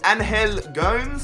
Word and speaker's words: Angel Gomes: Now, I've been reading your comments, and apparently it is pronounced Angel Gomes.